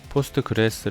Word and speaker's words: PostgreSQL: 웨어 포스트 클래스 후에 2 1611 표로 30% 포스트 글래스 라고 발음한다 곳 응답했고 요 그 다음이 포스트 근래에